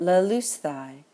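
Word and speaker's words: λελύσθαι: We will add the ending, sthai, and we will put that accent on the second to last syllable. And we get lelusthai, which means to have caused to be freed, or, better with Luo, to have ransomed.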